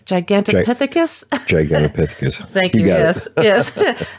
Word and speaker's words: Gigantopithecus: there was any correlation with, see if I'm pronouncing it right, Gigantopithecus? Gigantopithecus.